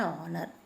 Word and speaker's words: honor: a honor you know h is silent so the sound is of a vowel so we have to write he thinks it is an honor it is an honor